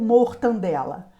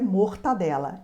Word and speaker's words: mortadela: Por exemplo, mortadela ou mortandela. A pronúncia correta é mortadela.